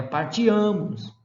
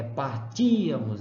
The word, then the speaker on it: partíamos: Não é partiamos, é partíamos. Então, o acento, ele deu uma recuadinha em uma sílaba.